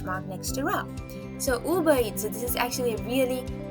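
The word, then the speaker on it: ウーバー: But they say uba. So you just drag the ooh sound, the ba sound and the e sound and then you pronounce it as uba.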